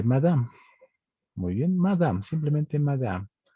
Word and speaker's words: madame: Muy bien, madame, simplemente madame. La E no se pronuncia y es madame.